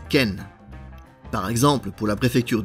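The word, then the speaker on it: 県: premier suivi d'un suffixe désigné par ce kanji qui se prononce Ken par exemple pour la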